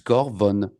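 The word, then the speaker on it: Cor Von: Et tu as prononcé Corvorn. Je sais, mais c'est Marcus Corvorn.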